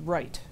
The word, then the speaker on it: Wright: pronounce English that's why my name is pronounced right it should be there's a w there's an r and there's a GH which is a sound they couldn't pronounce it they said we're not